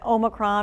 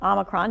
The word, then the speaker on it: Omicron: Pfizer says it could have an Omicron or Omicron, depending on how you say it, specific vaccine ready by March if needed.